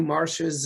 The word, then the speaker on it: Marcia: said about star wars but now we got marissa lucas on board for this marcia i'm sorry yeah you spell it one way and then it's pronounced nine different ways that's right yeah yeah marsha lucas on board with this uh what was